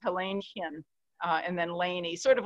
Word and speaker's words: Léni: i but i um so laney it's pronounced laney and it's got an accent on e it's what i grew